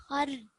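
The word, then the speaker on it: خردل: Khardalin. The dal has fatha, so don't prolong the dal.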